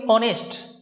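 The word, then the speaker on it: honest: ठीक है, इन नाउन्स में एच साइलेंट है, इन सभी नाउन में क्या है, एच साइलेंट है। ठीक है, इसको बोलेंगे ऑनेस्ट, ओ नेस्ट, ऑनरेरियम, ऑनरेरियम ये हो गया, आवर, एयर, एरेस, ये है। देखो कहीं भी एच की ध्वनि नहीं आ रही है, एच का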